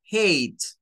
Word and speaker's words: hate: inglés, en algunas palabras, la H es como un jadeo, es como tomar aire. Y esta A tiene un sonido largo, que es A, y por eso se pronuncia como hate.